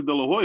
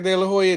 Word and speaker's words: De La Hoya: still suffering because let's be honest here Oscar Del La Hoya is a star maker he he's a star you know what you know what you said it right Oscar De La Hoya did it the Golden Boy was running good